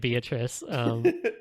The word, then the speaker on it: Beatrice: We're just gonna call her fucking Beatrice, because We're going to be pronouncing it Beatrice.